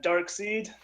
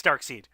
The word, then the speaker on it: Darkseid: Follow Durden Yo, and Dark Seed. Come on, dude. That's your name. That's not my name. Well, it's spelled that way. There's no. What? Okay, I'm fine. It's Darkseid. Okay, you got me.